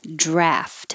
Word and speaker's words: draught: Draft. And it could be spelled this way, DRAUGHT, and that's usually pronounced more draft.